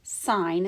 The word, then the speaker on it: sin: it's asking us to find sin or sign is how you pronounce it but it is written sin because that's the way it is in the calculator sign C so the